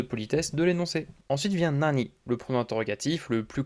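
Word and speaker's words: 何: Alors attention à Nani parce qu'il va se prononcer Nan devant les T, les D et les N. Donc la question, Sore wa nan desu ka? Le Nani se prononcera bien Nan.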